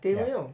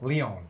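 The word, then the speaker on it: León: Yeah, De Leon. Is that how you say his name? No, Leon. Leon, So, okay. not De Leon.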